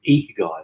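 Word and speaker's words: ikigai: and strongly recommend is a Japanese model called Eco guy that's spelled iki g-a-i and it's Japanese for reason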